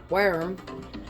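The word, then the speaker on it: wyrm: Worm. Worm. It is pronounced worm.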